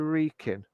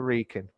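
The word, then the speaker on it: Wrekin: round the recon so going round the recon w-r-e-i sorry sorry give me a sec i can't spell it w r e k i n going round yeah going around the reeking going around the rican yeah yeah that's true um um you see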